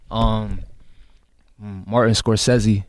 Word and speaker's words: Scorsese: Martin Scorsese. Fight Club. That's how you pronounce his name?